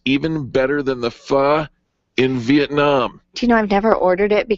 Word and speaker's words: Pho: now you're probably thinking what what did you just say 95 you might read it as Pho 95 but it is pronounced and uh he how